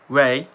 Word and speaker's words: Rei: Ray. Nice, yeah. It's not spelled like that.